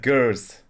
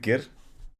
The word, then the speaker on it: ger: Oh, he said gers. We pronounce it gir.